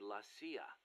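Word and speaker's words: la CIA: around here they say lasya instead of CIA huh nothing strange about it that's how it's pronounced when you read it in Spanish it has the feminine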